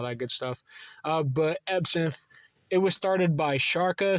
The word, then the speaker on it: EbSynth: synth all one word I used to call it EB synth because I didn't know the the pronunciation was e but I was vly corrected online on Twitter and all that good stuff